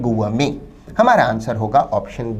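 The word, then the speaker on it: gourmet: answer होगा option B विद्यार्थी शब्द गुव मेंे के उच्चारण पर ध्यान दें गुव मेे में अंतिम टी को नहीं बोला जाता यह साइलेंट रहता है ठीक वैसे ही जैसे बुके में अंतिम टी साइलेंट रहता गुव में भोजन का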